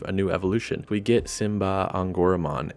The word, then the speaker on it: Symbare Angoramon: new evolution we get simba on goromon interesting to hear this pronunciation because we had all been saying simbari on gourmand for months based on the karakana i had to